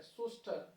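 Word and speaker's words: Schuster: और सुस्त याद रखेंगे ये जो है सी साइलेंट है सुस्टर 1800 सॉरी 1953 इन्होंने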